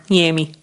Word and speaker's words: Jaime: it's Jamie or Yami. Yami. Yami. Yeah, That's how 'cause my it's not- grandma would pronounce it.